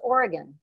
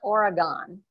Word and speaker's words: Oregon: First of all, it's Oregon, not Oregon, and it's malheur out